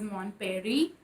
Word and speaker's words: Mon Paris: why cell mon parry i think that's how you say it in french but it's like it's mon paris but i know they don't say this paris they said as mon perry i believe and there were